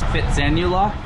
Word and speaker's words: Phitsanulok: Phitsanulok?